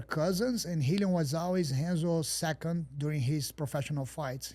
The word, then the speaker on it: Renzo: was to train with Henzo. We say Henzo's Renzo, but in Portuguese we pronounce like an H. The R in the beginning is like an H.